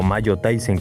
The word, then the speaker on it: Majo Taisen: todas las peleadoras de Mahou Taizen, o Mayo Taizen como se debe de pronunciar.